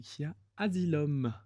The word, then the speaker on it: Khia Asylum: desia pour en parler faut savoir le prononcer c'est qui a asilum l'asile des kia c'est pas c'est pas compliqué islam comme la saison de American story voilà tu veux expliquer